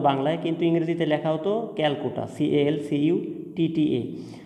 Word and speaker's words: Calcutta: কিন্তু ইংরেজিতে লেখা হতো ক্যালকুটা, CALCUTTA। অর্থাৎ ব্রিটিশরা সেই সময় বাংলা ক উচ্চারণ করতে পারতো না, সি দিয়ে তারা উচ্চারণ করতো, এই জন্য সি দিয়ে লেখা ছিল।